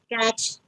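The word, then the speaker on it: catch: तो इस केस में हमारे पास टी साइलेंट है यहाँ पर, तो कभी भी एंडिंग में TCH आए तो उसमें टी साइलेंट होता है, okay. पैच, कैच, yes, wait a minute,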